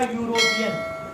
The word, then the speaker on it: European: इसका प्रोनाउंसिएशन है ये आपका यूरोपियन।